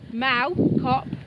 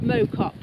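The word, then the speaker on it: Mow Cop: So yes, and it's pronounced Mau Cop, not Mo Cop. So definitely Malcop.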